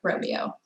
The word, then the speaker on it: Romeo: Also, I used to pronounce it Sherpa Romeo, but I recently learned that Sherpa also has a website called Sherpa Juliet. So it only makes sense that this is Sherpa Romeo.